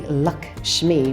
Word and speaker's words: Lakshmi: Pronounced really Lakshmi, which is interesting, like you have good fortune, you have good luck.